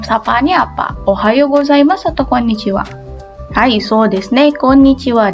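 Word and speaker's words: こんにちは: Ini hurufnya H, sama ya ini juga. Tapi dia dibacanya itu wa.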